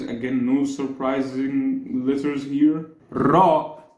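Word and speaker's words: ر: no surprising lits here ra is not exactly the English R because this is the rolled R this isn't R this is R we actually don't have R we always pronounce ra like like this except for me well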